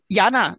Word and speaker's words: Jana: it so now uh i don't know how your name is pronounced i'll just say it is jana and then you correct me jenna please jump in and ask your question you've been patiently waiting for a long time oh no problem this hand is holding up very easily jana is a correct pronunciation but i know if